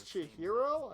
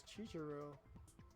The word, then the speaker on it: Chihiro: However, most Oh, was Chihiro. I thought it was Chichiro.